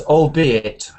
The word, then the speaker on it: albeit: Okay, I would read that as albeit. Albeit. Albeit. Yes, because that's what it is really. It's albeit but shortened.